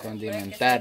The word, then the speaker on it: condimentar: Condi. Condi. Pero tú dices conti. Condimentar. Condimentar. Condimentar. Ah, ahorita sí lo dijiste bien.